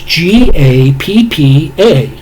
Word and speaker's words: Gappa: Gapapa? It's Gappa.